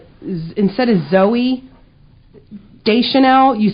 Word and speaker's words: Zoe: And you also say, instead of Zoe Deschanel, you say Zooey. Because it's spelled Zooey. It's Zoe. not Zooey. Zoe, she's the only one who spells Zoe that way. Well, it's Zoe. It's not Zooey.